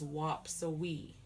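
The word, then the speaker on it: waapsuwii: so wap so we that's how you spell it in lenape w-a-a-p-s-u-w-i-i and the way we say it is whop so we okay so that's a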